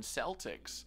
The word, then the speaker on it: Celtic: the Boston Celtics. Yeah. Is it Celtic or Celtic? Yeah. Celtic. They're both acceptable, but then I It's like dug here into and like here.